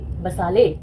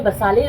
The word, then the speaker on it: basale: Granulosum, stratum स्पिनोजम, stratum बसाले। बसाले की स्पेलिंग होती है BASALE। इसे कोई बसाले प्रोनाउंस करता है, कोई बेसिल प्रोनाउंस करता है।